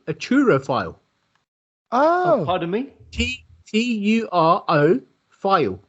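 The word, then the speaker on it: turophile: And if you love cheese, you are actually called a churrophile. Oh. Pardon me? T-U-R-O phile. P-H-I-L-E. Churro or truro? Churrophile. Spell it again.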